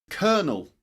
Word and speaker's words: colonel: Colonel. Colonel. Colonel. Colonel. That's colonel as in for example. Let me give you an example. as in bird. Bird. The vowel sound. I mean bird. Cur kernel. Colonel.